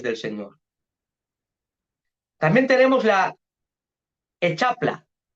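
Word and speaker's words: Hexapla: También tenemos la Echapla. Echapla. Se escribe H-E-X-A-P-L-A.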